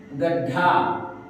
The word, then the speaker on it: गड्ढा: अच्छा, ड में करना होगा गड्ढा, ग ड ढा। देखो कंप्लीट है। ग ड ढा, गड्ढा। हमने बोला है गड्ढा, तो ड का उच्चारण आधा कैसे करेंगे?